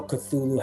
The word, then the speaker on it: Cthulhu: I didn't know Cthulhu had like a human form at the back. Yeah. Oh, yeah. HP Lovecraft said, "You'll saw you pronounce it with your tongue held to the top of your mouth."